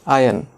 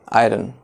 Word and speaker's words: iron: The next commonly mispronounced word is iron, and it is not iron. It is iron.